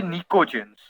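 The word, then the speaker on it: pnictogens: দ্য T here is silent, ঠিক আছে? পি এন আই সি T, this P এন্ড টি R silent, okay? P এন আই সি টি ও জি ই এন এস, নিকোজেন।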